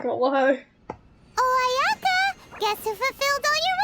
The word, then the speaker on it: Ayaka: I have to go back to Ayaka. Yeah, that's how you pronounce her name.